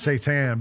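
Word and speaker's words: seitan: It's pronounced satan, but it's I call it Satan.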